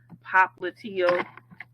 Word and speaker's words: popliteal: the back is femoral the back of the knee is prop lydial you might hear some people pronounce it popliteal the thing about the